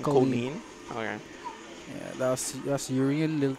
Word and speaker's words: Kolin: Oh, that's how you pronounce the yeah, name. Kolin.